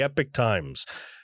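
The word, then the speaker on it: Epoch Times: but they say it's the Epic Times. So I would think Epic would be EPIC. No, this is EPOCH, but it's become a reliable source in the recent months. So the Epic Times, ladies and gentlemen, this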